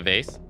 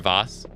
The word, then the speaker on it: vase: here as well one's by the vase or vos depending on how you pronounce it it's a neat